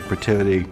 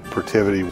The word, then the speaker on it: Protiviti: Protiviti. Protiviti. Protiviti. The biggest challenge, once we had decided on our name, was pronouncing Protiviti properly.